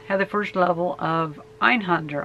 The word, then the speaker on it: Einhander: the first level of ein hunter on it or ein Hinda if you really want to pronounce it right but I think it